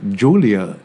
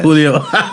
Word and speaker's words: Julio: Okay, I must have said Julia Iglesias. Oh, Yes. Julio. Yeah, Julio. In Spanish, it's not pronounced that way.